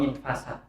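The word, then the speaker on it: انفسد: Walillahi darul qail, maka benarlah seorang yang mengatakan faftah lahu baba'ti dzari infusid. Ini bacanya gimana? Ini Bahar Rojas. Faftah lahu baba'ti dzari infusid atau infasad. Infasad bukan fusid, fasad.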